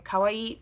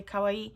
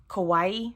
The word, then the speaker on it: kawaii: do a another post so I did um Kawaii because too many people don't know how to say Kawaii which means cute in Japanese most people pronounce it Kawaii which means scary FYI um oh and I